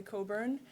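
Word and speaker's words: Cockburn: my name is Coburn it's from Scotland don't pronounce the middle um so yeah it's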